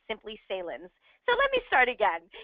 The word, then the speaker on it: Saelens: is my pleasure to introduce our host sillens and I'm not saying that correctly again it's